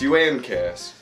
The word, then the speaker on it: Uncas: It's pronounced Uncas.